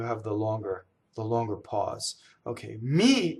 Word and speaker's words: mi: Okay, mi is a weak monosyllable. It does not double.